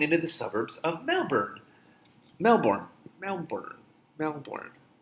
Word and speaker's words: Melbourne: Melbourne. I've heard it pronounced both ways. I think it's Melbourne.